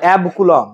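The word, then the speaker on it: অ্যাবকুলম্ব: কুলম্ব এটাকে বলা হয় অ্যাব কুলম্ব উচ্চারণটা এবি সি নয় অ্যাব কুলম্ব সমান টেন কুলম্ব হয়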